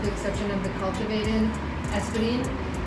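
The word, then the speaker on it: Espadín: And this is pronounced Espadine? Espadine.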